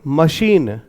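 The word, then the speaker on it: machine: और English words के अंत में जब ई आता है तो वो साइलेंट रहता है, इसलिए कोई साउंड प्रोड्यूस नहीं कर रहा, तो यहां पर अपना ये खत्म हो गया। हम इसको क्या पढ़ेंगे? मशीन।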